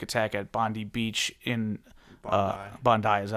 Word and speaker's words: Bondi: We had a tragic shooting in Australia, the anti-Semitic attack at Bondi Beach in Bondi, is that how it's pronounced?